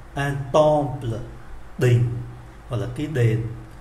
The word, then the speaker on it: temple: Chúng ta để ý chữ M mà đứng trước P thì phát âm như là N, un temple, đình, hoặc là cái đền, hoặc là cái miếu.